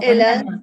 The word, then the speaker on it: aime: Attention, on aime on aime. Ne prononcez pas le e final.